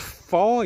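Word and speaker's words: Fowey: So the plan is today we're going into, I think it's pronounced Foy, is it? Foy, yeah. But if you look on a map, it's spelled Fowy.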